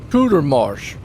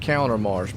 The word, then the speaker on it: Cootermarsh: Ben Cootermarsh. I've been saying Countermarsh, but it's Cootermarsh, folks.